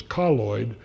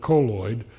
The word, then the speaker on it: colloid: And we recommend colloid, or colloid, depending on how you pronounce it. The preferred pronunciation is colloid, although most people call it colloid.